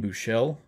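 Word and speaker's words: Buechele: So that quarterback on the Chiefs, Shane Bouchel. Thank you to SRJ Wildcat for telling me how to pronounce that.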